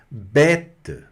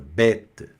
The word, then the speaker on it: bête: Bête, que é animal ou besta, bête, tá? Bête. Olha aí, pronúncia bem aberta.